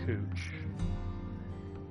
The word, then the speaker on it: Couch: very close to waterfront people insisted with pronounced cooch now it's possible the